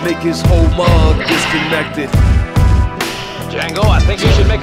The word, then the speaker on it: Django: But the D is silent, Django.